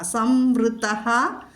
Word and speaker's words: സംവൃതഃ: സംവൃതഃ സംപ്രമർദ്ദനഃ അടുത്ത പാദത്തിൽ. സംവൃതഃ സംപ്രമർദ്ദനഃ വിസർഗം കഴിഞ്ഞിട്ട് സാ വന്നതുകൊണ്ട് അവിടെ സ് എന്ന് വിസർഗസ്ഥാനത്ത് നമ്മൾ ഉച്ചരിക്കുന്നു. അല്ലെങ്കിൽ സാ ഇരട്ടിച്ച്, അതായത് കടുപ്പിച്ച് ചൊല്ലണം അവിടെ സം.